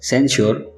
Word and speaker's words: censure: तीसरा वर्ड है सेंश्योर, जिसका स्पेलिंग है CENSURE, जिसके मीनिंग्स होते हैं निंदा, आक्षेप करना।